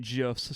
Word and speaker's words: GIF: The guy who created GIFs says that it is GIF, not a hard G. So I'm going to take his word for it. So it's GIF like the peanut butter.